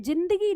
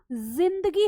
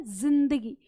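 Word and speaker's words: ज़िंदगी: और आपने देखा होगा ये जो जिंदगी शब्द है यह उर्दू का है तो यह जिंदगी नहीं जिंदगी होता है ठीक है उच्चारण क्या है जिंदगी इस तरह जैसे शब्द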